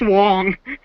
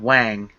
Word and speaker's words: Wang: It's pronounced Wong. oh Well, it's an A, so I assumed Wang.